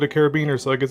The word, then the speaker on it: carabiner: This right here is just a carabiner, a D-ring, whatever you want to call it. It's pronounced carabiner.